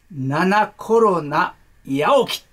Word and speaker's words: 七菌八起: はい、これをこう読みます。はい。七コロナ八起き。七コロナ八起きと読むんですね。